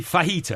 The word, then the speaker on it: fajita: was chicken T Sal it certainly can't be fajita as you describe it right well that is how you say it because it's a Spanish uh J because I don't see